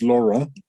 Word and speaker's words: Laurent: this particular Amy Saint, now I would pronounce this Laurent because it's Laurent, and that's French, isn't it? It's Laurent. But here in America, well, not here, there in America, they say Saint Laurent, which to my ears is like really uncouth.